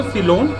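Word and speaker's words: coelom: Coelenterata, तो इसमें एक वर्ड है सीलोम, पढ़ा जाता है इसको सीलोम, स्पेलिंग लेकिन COELENTRATE है, पर इसका प्रोनाउंसिएशन क्या है?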